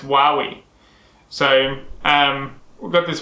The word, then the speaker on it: Huawei: actually i need to look at how to pronounce because we all thought it was hawaii or huey or something but it's apparently pronounced while we so um we've got this huawei brand tablet